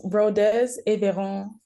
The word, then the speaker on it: Rodez Aveyron: So, I mean, if you could pronounce the club name for our viewers and listeners, probably that would be amazing. It's Rodez Aveyron Football Club, basically.